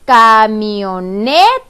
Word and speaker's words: camioneta: me o no está si la digo completa es camioneta la sílaba que pronunció con mayor fuerza 2 en la net porque yo digo camioneta yo no digo camioneta me digo cambio neta mucho menos digo camioneta yo digo camioneta por lo tanto la sílaba tónica es la sílaba ne para que suene camioneta